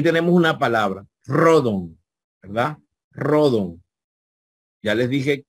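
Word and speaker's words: ῥόδον: así en castellano rojo Y tenemos una palabra rodon verdad rodon ya les dije que una letra en mayúscula no se puede colocar ni la situación ni los Espíritus encima deben ser trasladados al lado izquierdo Entonces rodon es rosa La rosa de Aarón creo que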